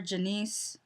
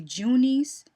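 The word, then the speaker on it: Junice: she calls her sister janiece they say janiece but it's it's spelled j-u-n-i-c-e so i would think it would be junies but they're saying janice anyways um she called says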